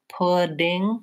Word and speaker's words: pudding: which word is which if I'm saying too much of a D sound in this word pudding with a really build up of air a louder and more force D it's not gonna sound correct I'm putting on my shoes but I can say I'm eating pudding pudding I can use a true D here and it will sound okay so the thing to